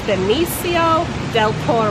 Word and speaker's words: Benicio del Toro: I don't have the right accent for it, but I believe it's Benicio del Toro.